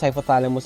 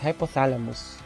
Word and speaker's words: hypothalamus: So we have the diencephalon, which includes thalamus, hypothalamus, and epithalamus.